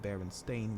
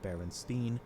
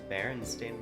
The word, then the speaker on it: Berenstain: was most frequently called berenstein or bernstein fourthly the cartoons use an ambiguous pronunciation at best fifthly surnames with the suffixtein are far more common there's steam bears is correct it's berenstain bears swimming mirror mirror on